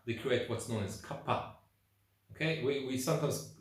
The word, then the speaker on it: kapha: create what's known as Kappa okay we we sometimes some people call it kapha because it's a pH the H is an aspirin H it's a cup so there's a bit